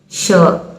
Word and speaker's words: sure: Here the spelling is S-U-R-E. With the guidance of the knowledge of the sibilant sound, we can pronounce this word as so, so. But it has the sound of sh, sh, another fricative sound. So sure, sure.